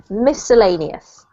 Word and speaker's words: miscellaneous: This one here doesn't have a C sound, a hard C. It just is miscellaneous.